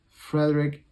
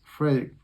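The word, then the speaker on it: Fredrik: guitar player we had Frederick aison I think that's how you pronounce sorry it's Fredick from opth I I should call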